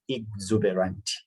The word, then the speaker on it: exuberant: It is, the pronunciation is I-G, not X-E-X. So you pronounce it as exuberant.